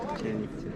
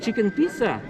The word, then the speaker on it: Chichen Itza: Chichen Itza. It's not chicken pizza. No, not chicken pizza, amigo.